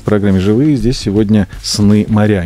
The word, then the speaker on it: Сны-Моря: Здесь сегодня «Сны моря». Не путайте ударения, пожалуйста. Название пишется через дефис. По правилам русского языка, мне кажется, легко догадаться, что ударение ставится на букву «Я».